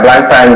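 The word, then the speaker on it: Blancpain: Which is a block, how do you say it, block pan? Yeah, Black Pan.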